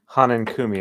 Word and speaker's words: Hanenkumi: the spray the uh Hanan Kumi I believe is how it's pronounced um let me just